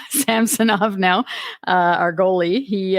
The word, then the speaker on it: Samsonov: was great that uh Samson off since that's his apparently how you uh pronounce his name samsonov now uh our goalie